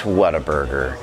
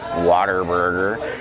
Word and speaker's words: Whataburger: should honor their pronunciations it's simple English people it's Whataburger when you eat it you're supposed to be like wow what a burger right not Water Burger I think it's kind